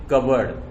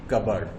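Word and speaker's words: cupboard: अलमीरा, या फिर मैंने यहाँ पे लिखा है आपको वो बोलें कबर्ड। वो लिखा तो है ऐसे CUP कप, BORD बोर्ड, कब बोर्ड लिखा है, लेकिन आप उसे बताएं कबर्ड। ठीक है, उसका सही प्रोनाउंसिएशन यही है, कबर्ड।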